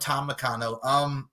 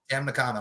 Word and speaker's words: Tam Nakano: We got Statlander and Momo against Willow and Tom Nakano.